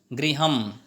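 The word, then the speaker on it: गृहम्: लिखा हुआ होता है ऊपर एक डॉट लिखा होता है और उसे हम अंत में अम पढ़ते हैं, पुस्तकम, गृहम। तो ये जो अम है इसका उच्चारण ऐसे करते हैं, डॉट लगाते हैं और अम।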